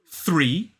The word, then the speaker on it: three: But the first sound in this word is a th. It is the unvoiced TH sound, the voiceless TH sound.